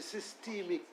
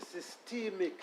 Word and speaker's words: systemic: We have a different pronunciation, so we say systemic. Is that what you say? And what was my pronunciation? A long E sound. I said systemic. Yes. And you say systemic.